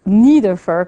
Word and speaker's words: Nidiffer: graduate student matthew nidiffer he pronounces neither fir because he's American but his family I think came from Germany so that study also